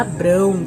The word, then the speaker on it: Abrão: Mas era Abrão que se pronunciava, né? Aqui se diz Abraão.